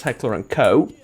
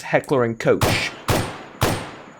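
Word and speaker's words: Heckler & Koch: heck or um uh the correct angle size pronunciation is heckler and co heckler and coch is also what i've heard people pronounce it as today i've heard it pronounced as heckler and coach or was it cooch one of the two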